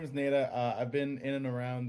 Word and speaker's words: Neda: My name is Neda, pronounced like Neda. I know, contrary to popular belief, it's Neda, or I even got a one time, and I'm like, you know what?